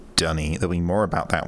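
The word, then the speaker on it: D'ni: duckney it's definitely not duckney dunny is the official pronunciation but i would accept denis as well uh denise is what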